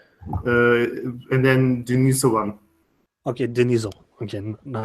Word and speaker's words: Denisovan: Anyway, but just for Jesus, how do you pronounce that? Denisovan in Russia. I always forget that. From what I read, it's just Denisovan. Denisovan.